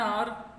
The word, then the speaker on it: hour: For example, if R you will see, so H is silent, so O U R, or, okay.